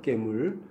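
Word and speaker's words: גְּמוּל: 깨물. 이게 사전은 이제 개물이지만 가운데 점이 있어요. 중간점이라고 하는데 2번 반복된 거예요. 우리말에서도 기역 발음이 2개 반복되면은 개가 될 게 깨가 되잖아요. 네, 그런 식인 거예요.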